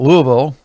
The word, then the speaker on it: Louisville: They call it Louisville. I don't know how you get Louisville from Louisville, but that's how they pronounce it.